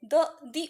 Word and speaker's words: the: तो यहाँ ये जो ऑक्स है, द ऑक्स, ओके, तो ये जो ऑक्स है ये यहाँ पर सेकंड टाइम मेंशन्ड है, इसलिए यहाँ पर हमने द लगाना है। लेकिन इसको प्रोनाउंस कैसे करेंगे? दी ऑक्स, क्योंकि ये क्यों करेंगे